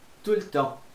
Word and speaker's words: tout le temps: Então você não vai falar tout le temps, pode ser tout le temps, mas você não pronuncia esse T aqui. Já vi muita gente falar tout le temps. Não, esse T aqui não pronuncia, nem esse S, tá bom?